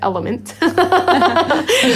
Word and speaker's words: LMNT: kind of way have informed me that it's pronounced element which we didn't get um yeah so i